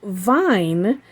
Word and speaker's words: Vigne: came from and so i'm assuming that vine with the silent g is is appropriate because